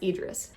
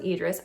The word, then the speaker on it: Idris: I was pronouncing it Idris, by the way, but I think it's pronounced Idris.